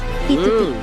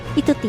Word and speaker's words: 1Tut: AoYin for 1Tut, because this is a Chinese player, he said that number 1 it's actually from Mandarin, pronunced 'Yi', 'Yi Er San' (one, two three), 1Tut, so the name is 1Tut (Yituti), friends.